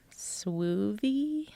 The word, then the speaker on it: Swoovy: Oh, it's spelled like groovy, but Suivi.